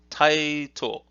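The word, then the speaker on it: 𱁬: It's pronounced Taito, Taito, Taito.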